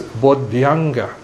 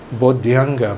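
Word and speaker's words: bodhyaṅga: In Sanskrit, it's pronounced as Bodhyanga. Bodhyanga, Bodhi Anga. But in Pali, because Dhya is kind of a bit tricky, complicated, so they simplify it to J. Okay, Bojjhanga.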